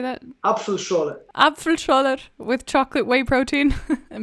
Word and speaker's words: Apfelschorle: Apfelschorle.